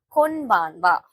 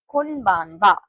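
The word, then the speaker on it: こんばんは: This letter is ha, but On greeting, we can say this as wa. Even this letter is also ha. On greeting, we can say this as wa. Konnichiwa, Konbanwa.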